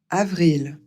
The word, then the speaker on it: avril: avril, Ici, c'est facile. Tout se prononce comme c'est écrit.